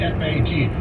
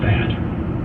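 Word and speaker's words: Pfaadt: That's a lot of letters in there, but the PF sound usually comes to an F, right? Two A's is an A, and DT, the D is usually silent. I claim his name is Fat. He probably pronounced it Fat or something.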